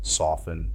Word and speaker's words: soften: Remember that T is silent in often. Other examples are apostle, epistle, soften, and hasten.